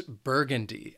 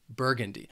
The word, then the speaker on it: burgundy: The next color is burgundy. This word has 3 syllables, and the stress is on that first syllable, burgundy.